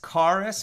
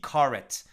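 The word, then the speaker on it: karet: more about it uh you can google it either as k-a-r-e-s karus more ashkenaz pronunciation or k-a-r-e-t karat uh kind of an israeli hebrew pronunciation uh and then you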